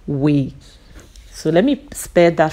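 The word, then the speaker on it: Woe: are kick starting it from this town called we so let me spare that for you so that you pronounce it properly it is spelled w o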